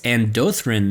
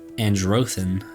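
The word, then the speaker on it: Andrano: pronouncing the name wrong it's andin not andran there's no R there I've been messing that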